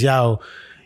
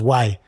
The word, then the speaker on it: Yaw: of that you know so instead of Yao saying my name is Yao you might have found he was saying my name is why you know to to americanize it you see what I'm